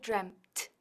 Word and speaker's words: dreamt: Ahora, como es irregular, es every day I dream, yesterday I dreamt, and lately I've dreamt, marcando bien la T que está al final, dreamt.